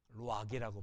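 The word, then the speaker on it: רוּחַ: 이게 알 발음이니까 하가 아니라 루하우. 이게 0이에요. 루악이라고 발음하.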